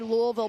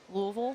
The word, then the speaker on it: Louisville: My husband says that you have to say it with marbles in your mouth. Louisville. Louisville.